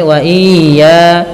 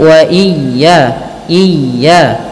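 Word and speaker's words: وإياي: suara mimnya harus jelas wa ia ditekan ketika melafalkan ya tasdid Wa ia jangan sampai waya kesalahan yang terjadiah memanjangkan i ya atau dua a wa atau tidak wa iya tidak mau tidak ditasdidkan akan tetapi wa iya iya wa iya farhabun Kemudian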